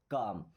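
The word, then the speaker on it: calm: काम। देखिए यहां पे भी एल साइलेंट है। ओके? अब देखिए के के पहले एल आया था तो भी साइलेंट हो गया।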